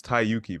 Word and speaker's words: Tyyuki: all right I want to make sure I'm pronouncing your name right it's tayuki right yep the one and only yeah and